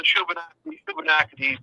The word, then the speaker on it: Shubenacadie: I can't even begin to pronounce it. SHUBENACADIE. Yeah, the Shubenacadie Reserve.